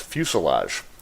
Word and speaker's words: fuselage: this is infused love okay it's pronounced fuselage if you imagine a plane without any of the wings or tail sticking out that's the fuselage cockpit well that's the